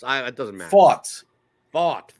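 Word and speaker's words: Pfaadt: Fought. Okay, that's how you do it. Just the past tense of fighting.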